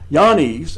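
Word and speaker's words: Jannes: Now, as Yanes and Yambres, and yes, that's how it is actually pronounced, withstood Moses, so do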